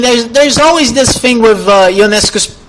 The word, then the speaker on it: Ionescu: I mean, there's always this thing with Ionescu's name pronunciation because it is Ionescu, but sometimes people say Ionescu, but to me it is really hard to say Ionescu.